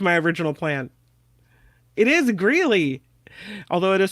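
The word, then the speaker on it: Greeley: original plan it is gy although it is spelled with a y m g gy not Greenley but it is gy MHM gy is the right answer yeah gy Colorado next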